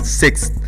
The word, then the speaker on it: sixth: Untuk 6 TH maka dia peringkat ke-6 bacanya sixth. Ada sixth, ada ujung lidahnya itu kayak dicepit sama gigi gitu ya, tapi di dalamnya, di dalam.